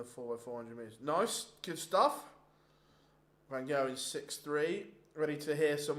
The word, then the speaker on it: van Gerwen: Oh, Michael van Gerwen. Got to roll your R's in the Gerwen.